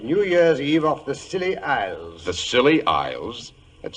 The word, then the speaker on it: Scilly: Well, tonight I thought I'd relate how Holmes and I spent New Year's Eve off the Scilly Isles.